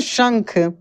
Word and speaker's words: शंख: ये शंख, देखिए तालव्य श है, कैसे पढ़ेंगे? शंख, तालु से इसका उच्चारण निकलता है, ठीक है ना।